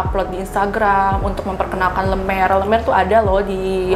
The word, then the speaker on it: Le Mere: Saya mau nanya, bacanya yang benar itu gimana sih tempat ini? Lemer.